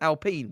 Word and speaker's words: Alpine: about how I was I was pronouncing as Alpine which is the correct way of doing it um